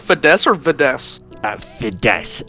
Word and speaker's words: Fides: what's your name uh my my name is fides uh I can spell that for you if You' like all right Fess or viess uh Fess f i d e